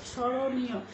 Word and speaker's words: স্মরণীয়: অন্তস্থকার এভাবে উচ্চারণ করব স্মরণীয় স্মরণীয় এখানেও লক্ষ্য করো যে দন্তস এর নিচে ব ফলা রয়েছে কিন্তু আমরা উচ্চারণের সময় কিন্তু এই ম টাকে উচ্চারণ করছি না যদিও ম যুক্ত রয়েছে